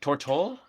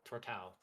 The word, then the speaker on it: Tortau: Tortool? Tortool? Tortau. Like Tau. That was close. Like ow. Tortau.